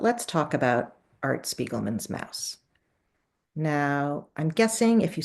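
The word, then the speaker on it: Maus: But let's talk about Art Spiegelman's Mouse.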